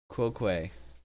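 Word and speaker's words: tu quoque: something called the two cloak way quo quay quo quay hang on that is correct well that saves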